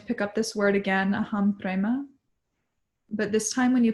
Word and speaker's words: aham prema: Aham prema.